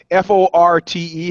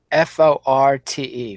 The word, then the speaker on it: forte: Like for example, Forte. How do you pronounce that? Forte. Forte. Wrong. Fort. Is that what you're going to tell me? Yeah. But if you say fort, then people think you're an ignoramus.